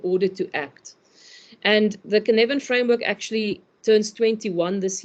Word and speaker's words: Cynefin: Are you showing how we spell that Cynefin? If people want to read up on it. Yes, it's Cynefin.